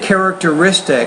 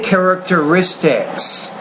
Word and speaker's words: characteristics: your s endings again you said characteristic I say characteristics so you have to